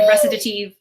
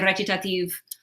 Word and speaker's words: recitative: Some people say recitative, some people say recitative. Those are both correct. Professional musicians, you'll hear them both. And I will probably use them both interchangeably because I've heard them both so much.